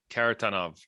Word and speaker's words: Kharitonov: Kharitonov. In the Russian, it's always like equal stress. Kharitonov.